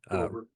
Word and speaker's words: Roeber: Roeber. Roeber.